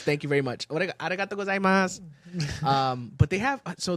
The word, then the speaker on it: gozaimasu: But they have, so the spelling is weird though, because if you spell out gozaimasu, there's a U at the end, but they don't really pronounce it when they say it. It's arigato gozaimasu, but there's a U, so technically it would be arigato gozaimasu, but they don't do the s at the end, or at least I don't hear it Salud.